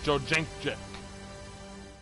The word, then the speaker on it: Jędrzejczyk: I'm still trying to figure out how to pronounce this bitch's name. It's Jędrzejczyk.